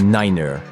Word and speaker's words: niner: signifie 3 FIF 5 et Niner est utilisé à la place de U cette prononciation vise